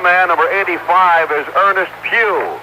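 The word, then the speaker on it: Pough: and the other man number 85 is Ernest Pew it's p o u g but pronounced as a PE in church this being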